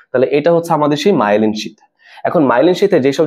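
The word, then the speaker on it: myelin: মায়েলিন শীথ। ওকে, তোমাদের বই মনে মায়োলিন লেখা না, আসলে সঠিক উচ্চারণটা কি? মায়েলিন। মায়েলিন শীথ বা মায়েলিন আবরণ। ওকে, মায়েলিনটা সঠিক উচ্চারণ, মায়েলিন।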